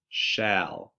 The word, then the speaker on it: shall: This one actually says al. It's kind of a weird one, and that's why it's a trick word. So it's al, shall, like shall we go out and play?